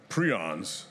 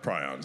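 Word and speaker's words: prions: pathogens mutation vaccination so prons or prons I've heard them pronounced both ways uh prons I believe it is though and they are this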